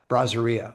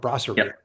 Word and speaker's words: brasserie: flavor of EDO uh, Braseria or Yep. Brasserie, as you corrected me on, or I corrected myself on after hearing you say it correctly.